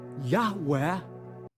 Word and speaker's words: Yahweh: So rather than being pronounced Yahweh.